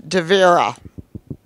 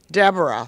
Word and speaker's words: Devera: My name is Devera. And most people call me Deborah. There's not even a B in my name.